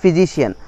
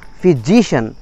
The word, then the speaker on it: physician: Well, so politician, physician, not physician, physician. So দেখছেন এই যে এই যে একটা স্ট্রেস পড়লো, physician, not physician, physician, এই যে একটা স্ট্রেস পড়লো শিয়ানের আগে ওয়ার্ডটা, এটাই হচ্ছে গিয়ে স্ট্রেস.